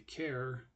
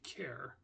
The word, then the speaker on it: char: the word character, and when you say character, you say care and then actor, care, actor. You just cut off the actor part, so it should be care. Although, like I said, a lot of people will say char or car. I'm going to say care.